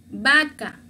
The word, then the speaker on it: vaca: Pero para leer se dice como la B. Vaca. No se escucha como vaca, no. Vaca. Como con esta letra.